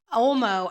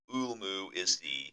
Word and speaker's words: Ulmo: Ulmu Ulmu. is the hyphenetic pronunciation. It's spelled Ulmo, but Ulmu is actually what I got was the proper way to say it.